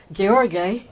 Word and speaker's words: Gheorghe: Today we're going to be talking about Father Gheorghe Calciu, Father Gheorghe, as he would pronounce it.